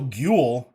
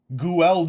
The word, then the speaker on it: Guel: Rhymes with fuel. Guel Jaturk. Guel Jaturk. Okay, so Guel.